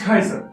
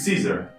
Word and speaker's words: Caesar: tent none other than Julius Kaiser uh Julius Caesar oh the modern pronunciation of Latin okay that guy referred